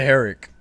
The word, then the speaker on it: Herrick: want to butcher your last name like you butchered mine please try go ahead I had a is it heric Flawless is it okay okay just making sure